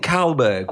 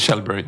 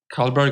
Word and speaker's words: Kallberg: to say your name is it shelb no it's not shelb yeah uhhuh um so